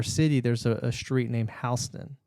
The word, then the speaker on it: Houston: Anyways, so there's Houston, Texas, but in our city there's a street named Houston. Houston Spelled Road. the same, but the different pronunciation.